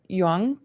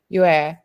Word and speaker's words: Yue: I think that brings us to me, actually, turning, probably fluttering just above Yuang's shoulder. Did I pronounce that correctly? Yeah. Yue. My apologies.